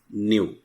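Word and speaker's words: ν: सो लिखेंगे इट is represented by the term न्यू, NEW, न्यू। इस तरह से इसको प्रोनाउंस करेंगे और लिखने का तरीका होता है ये।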